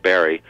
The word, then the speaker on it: Barre: in vermont uh where there's a town spelled b-a-r-r-e but pronounced barry so it was never too odd to me till i moved out of vermont and where where everyone pronounces it the other way ah so um tell